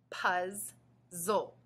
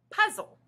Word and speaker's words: puzzle: Remember, when there are two of the same consonant in the middle of the word, we usually just say the sound once. Let's blend the two syllables together. Puzzle. Puzzle. Notice that when we say the word all together, we only hear one sound for Z.